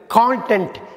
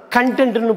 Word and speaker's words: content: அடுத்து நம்ம பார்க்க போகிற ஹோமோகிராஃப் வந்து கான்டென்ட், CONTENT. இதை கான்டென்ட்னு படிக்கலாம், கண்டென்ட்னு படிக்கலாம். கான்டென்ட்னா நம்ம எல்லாருக்குமே தெரியும், நான் இப்போ உங்களுக்கு என்ன கொடுத்துக்கிட்டு இருக்கணும் அதான் கான்டென்ட், CONTENT.